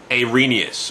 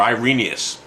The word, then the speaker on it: Irenaeus: is Irenaeus. Or, as some say, I'm supposed to pronounce it as Irenaeus, or Irenaeus. So people pronounce it different ways. So I've always been taught Irenaeus.